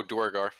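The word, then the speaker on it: Duergar: Or however they're pronounced. No, not drow, the deep dwarves. Oh, Dwargar.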